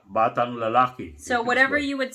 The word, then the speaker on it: lalaki: But lalake is spelled L-A-L-A-K-I.